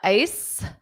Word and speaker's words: ice: The ice. So this c e is just pronounced as s.